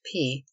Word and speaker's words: peak: as Seaman by custom drop the K is pronounced P it is tapered nearly